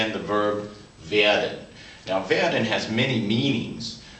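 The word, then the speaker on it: wird: which in German is V and even though it ends in a d you pronounce it almost like a t VI we will is VI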